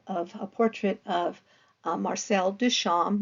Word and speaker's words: Duchamp: a portrait of Marcel Duchamp we don't pronounce the p and it's he is